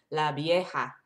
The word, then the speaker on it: La Vieja: And then La Vieja, with capital letters, La Vieja, V-I-E-J-A, Vieja. And sometimes V's are like a B sound, so you might say La Vieja, La Vieja.